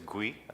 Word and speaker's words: GUI: hi my name is GUI pronounced the same as graphical user interface another codename and coincidence